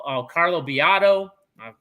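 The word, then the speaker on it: Biado: great team behind them um you know carlo bijal oh carlo biato i pronounced his name wrong um um roland garcia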